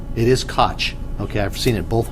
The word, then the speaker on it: Koch: How is that pronounced? Gullotty. It is Koch.